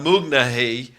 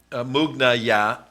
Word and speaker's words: Mughniyeh: Imad Mughniyeh, Imad, not Imam, Mughniyah. You pronounce it several different ways.